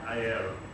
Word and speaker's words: air: Air.